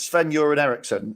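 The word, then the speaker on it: Sven-Göran Eriksson: manager yeah it was Sven you're an Erickson which I believe is the correct pronunciation you say his name as if it's piss then you're in Ericsson Apparently that is the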